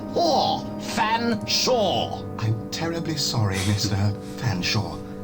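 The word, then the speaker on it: Featherstonehaugh: Featherstone Haw, I presume? I can't believe it. Nor can I, sir. I don't believe you cannot pronounce my name properly. It's Fanshawe.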